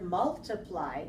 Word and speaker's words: multiply: multiply multiplied okay good I want to remind you not to move the stress not to change the stress when you said the word multiply that was good because you did multiply 3 1 but when you